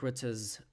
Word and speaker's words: Rutte: So, to give you context, VVD is Mark Rutte's, Rutte, if you want to pronounce it the Dutch way.